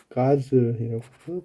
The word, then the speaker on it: guzzle: 그리고 guzzle, 가즐이라고 발음은 가즐, 폭식하다.